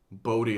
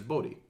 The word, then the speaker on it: Bode: some kind of distribution I was reading the name is bode the entire time but you guys have been reading it as bodo just sounds stupid but both of you